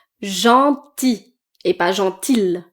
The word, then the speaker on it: gentil: Ensuite, oui, gentil. Gentil et pas gentil. Le L est silencieux. À la fin.